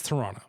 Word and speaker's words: Toronto: Like it's a it's it's a U not an O at the front and there's the second T is silent. It's Toronto.